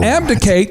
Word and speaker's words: abdicate: Now, abdicate kind of rhymes with delegate, but abdicate in the original context meant that a monarch or a king would renounce their throne.